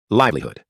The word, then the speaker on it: livelihood: Perceba que a advogada pronuncia essa palavra com maior intensidade no início em amarelo e com menor intensidade em azul no final. Perceba também que a pronúncia desses dois Os forma um som curto de U como em fugir. Portanto, pronuncie essa palavra assim. Livelihood, livelihood, livelihood, livelihood.